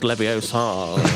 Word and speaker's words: Leviosa: It's pronounced Leviosa.